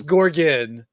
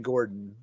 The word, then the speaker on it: Gorgon: Gord or Gorgan Gorgan it's Gorgan Michael keeps saying Gordon yeah like a dude